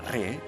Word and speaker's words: Ra: más cercano al Sol ra que también se pronuncia re era El Dios del